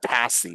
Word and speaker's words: pasty: you familiar with the it's spelled pasty but they call it passy it's a upper peninsula